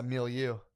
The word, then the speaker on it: milieu: beyond my fucking my milieu.